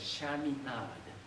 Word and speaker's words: Chaminade: It's actually in easier pronunciation, immediate reading by words, it's Chaminade University.